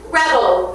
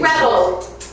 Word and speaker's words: rebel: rebel. 에이, rebel. 명사만 나왔어. rebel, rebel. rebel, rebel. 동사가 없네, 동사가. 동사는 rebel, 그러면 이게 rebel, 이런 식으로 rebel, rebel, 뒤를 강하게 하고, 명사는 rebel, 그렇게 발음합니다.